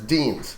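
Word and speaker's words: Dienes: one who gets fired, Deans. says Deans. Yeah, I thought it started with a B. I was very wrong. You're right. It is Deans, spelled with an I, which is just odd.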